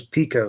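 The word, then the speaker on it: Piko: I say Pico because I've watched their channel before, and I think it's Jonathan Mentor that does their stuff, and he says Pico. So I go with that being the proper pronunciation of that.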